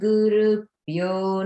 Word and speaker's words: Gurubhyo: And everyone notice the bhyo in Gurubhyo is Maha prana.